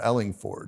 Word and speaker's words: Ellingford: I want to say Ford, but it's Ford, Ellingford. You're not the only everybody kind of defaults to Ford, even though it's spelled with an O.